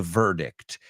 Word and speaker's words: verdict: I can tell you exactly where I was when they announced the verdict. You say veredicto, we say verdict. It's V-E-R-D-I-C-T. O sea, parecido, pero vosotros tenéis una sílaba más.